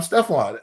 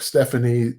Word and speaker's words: Stepfone: movie my aunt saw and now I'm Stefon and it's funny it's funny because my mother changed the spelling of it because as you can see it's spelled a lot differently uh I've been called every name in the book Stephanie Stefon stepone I've been called everything I'm so used to